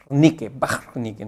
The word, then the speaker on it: Wernicke: Wernicke dice que es un nombre alemán, por eso se pronuncia Wernicke, ¿no? Con ese sonido gutural.